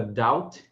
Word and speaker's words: doubt: acostumado com esse padrão, o OU, ser pronunciado com o som de AU, né?